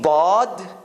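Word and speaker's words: ضاد: There are 2 ways Arabs pronounce bod. One is your tongue hits the right side of the edge between your front teeth and your molars. So it's like in that corner.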